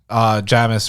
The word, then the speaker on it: Jamis: Finally, Babs Alusamokin as Jamis or Jamis, however you want to pronounce his name. He has his role. Jamis, it's a Seamus.